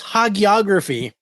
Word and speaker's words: hagiography: It's it's uh, it's hagiography.